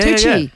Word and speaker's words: Tucci: Is Stanley Tucci's sister-in-law. Is that how you say his name? Oh, Mitch? Tucci. Yeah, Tucci.